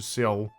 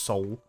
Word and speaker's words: Seoul: you hopefully get you over to seal and or soul o se seal because that looks like how it's spelt but apparently is just soul so i'll send you